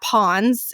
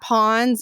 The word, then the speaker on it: pons: us a direct percentage of how much that pwns it's spelled p o NS is actually developed in your brain and that means how much of that pwns is on and so for most people so